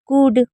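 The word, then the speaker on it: could: तो these things कुड कुड में L silent है।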